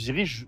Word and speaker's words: Zyrri: Alors, c'est dans ce cadre-là que le Ziri a été créé. Donc le Ziri, c'est comme ça que ça s'appelle, c'est la bonne prononciation en Mori du Burkina.